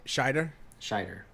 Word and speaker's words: Scheider: How do you say his last name? Scheider? Looks like Schneider, but there's no N.